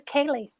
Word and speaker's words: ceilidh: I don't think that's really a name, but I like them together, these syllables. And it was Kaylee.